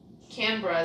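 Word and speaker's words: Canberra: can Bara oh canra canra is how you pronounce it like an aie camra there you go got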